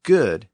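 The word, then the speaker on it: guid: That's why the Scottish word good is spelled G-U-I-D.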